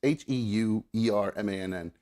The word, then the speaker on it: Heuermann: I think it's pronounced Heuermann. It's Heuermann. Heuermann.